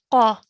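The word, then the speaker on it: ق: Really try and make a thick and heavy sound coming from the middle of your throat for this Qaf.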